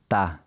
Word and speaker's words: tá: In informal speech, você often gets shortened to se, and está usually gets shortened to tá.